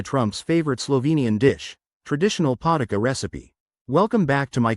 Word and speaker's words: Potica: Today, we're going to make Potica, pronounced Potica, a classic Slovenian rolled pastry.